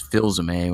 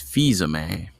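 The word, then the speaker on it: Fils-Aimé: my face oh oh apparently I pronounce Reggie's name wrong a couple weeks ago did you said his last name was Phil zamay when apparently it's fisa May oops a lot of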